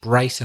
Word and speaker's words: Bryson: writer it's Bill Bryson he's pronounced Bryson I think you said breed Bill Bryson yes he's